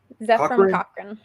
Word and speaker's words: Cochrane: Cochrane.